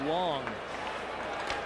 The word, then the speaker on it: Lang: Long spelled lang but pronounced long.